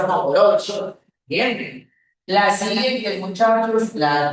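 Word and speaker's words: Mohorovičić: Ya, se escribe así, se pronuncia monoforobici.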